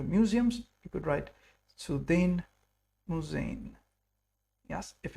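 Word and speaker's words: Museen: talking about museums the plural of museums is musain. Yes we go to the museums you could write sudin musain.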